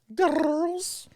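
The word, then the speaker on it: Grrrls: She just released her new song, Girls. I don't think you say it like that, but Girls. It's phonetic. It's girls. Girls.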